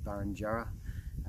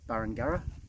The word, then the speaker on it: Burringurrah: Unfortunately, I mispronounced it a couple of times in the video, so I thought I'd just correct that now. I think I said Burringurrah, but it's Burringurrah, to the best of my knowledge.